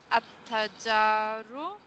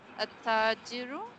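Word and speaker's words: التاجر: At-tajaru, the merchant. At-tajiru, the merchant.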